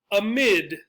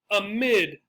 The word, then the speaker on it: amid: Amid. Amid. Second syllable. A lot of words that start with one syllable, that's the A, the stress goes on the second syllable.